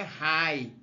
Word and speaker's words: high: significa alta em inglês a gente não pronuncia A letras g e h então quando tem g e h a gente não pronuncia então por isso que a pronúncia aqui é High né só o h